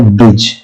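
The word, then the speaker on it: bridge: प्रत्यय है डीके बाद दी के बाद अगर कहीं भी जी है तो दी साइलेंट हो जाता है जैसे की ब्रीड इसमें क्या है डीके तो दी साइलेंट हो जाता है और जो जी का उच्चारण होता है वो जे हो जाता है तो क्या हो जाता है ब्रिज ठीक ऐसे ही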